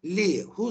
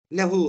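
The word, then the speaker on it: لَهُ: Mesela li, hu zamirine getirirsek lihu olmaz. Lehu olur.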